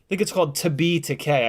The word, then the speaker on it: Takei: It's called To Be Takei. I saw it in the theaters years ago. It's really, really good. If you're remotely a fan of actually, it's technically pronounced George Takei, but if you say George Takei, nobody will